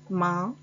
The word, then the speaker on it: main: il y a le mot main a i n se prononce un il y a le